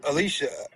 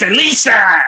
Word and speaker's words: Alisa: So, your creator is Alicia and uh it's Alisa. Alisa, I said a name wrong.